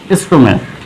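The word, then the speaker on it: stomach: যেমন স্টোম্যাক, এই নামটির শেষে দেখবেন সিএইচ রয়েছে এবং এর উচ্চারণ হচ্ছে ক।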